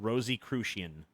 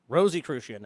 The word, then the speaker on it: Rosicrucian: a Rosicrucian play Rosicrucian Rosicrucian rosie crucian rosie crucian a member of a worldwide brotherhood claiming to